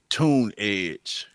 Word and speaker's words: Tunedge: The other one is Tunedge. Tunedge. So it's TUNDGE. Let me make sure that's spelled right.